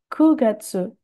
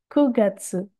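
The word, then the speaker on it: 九月: September, Kugatsu, bukan Q, melainkan Ku. Kugatsu.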